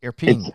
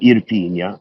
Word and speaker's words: Irpinia: Alta it's Irpinia. Alta Irpinia is the pronunciation.